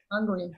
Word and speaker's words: Hungary: You can see it in Germany, in Ungarn, I don't know, how do you pronounce it in English? Hungary.